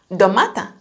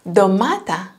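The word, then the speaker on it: ντομάτα: Sound d when they're at the beginning of the word, it can be domata, tomato, domata, or in the middle of the word or a name, they can pronounce like nd.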